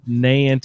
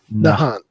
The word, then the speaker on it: Nahant: I said Nant, you said Nahant.